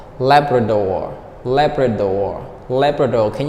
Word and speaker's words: Labrador: the first I'm sorry the stress is on the first syllable Labrador leopard or leopard or